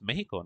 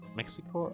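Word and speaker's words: México: Yeah, Mexico is spelled with an X, but it's this. It's said with a J.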